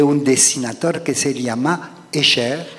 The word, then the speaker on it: Escher: dessinateur qui se llama Escher. Ah, Escher, sí, que claro, pronunciado en francés, el tipo es holandés.